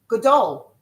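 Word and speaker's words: גדול: Gadol.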